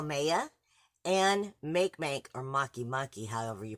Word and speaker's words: Makemake: attention to is how maiya and make or Makemake however you pronounce it technically are both also in Libra